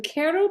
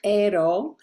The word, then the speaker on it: Q'ero: them yes well the Koo people of Peru the correct pronunciation ISO but that's hard for us to say in the United States so Koo is good um the Koo Indians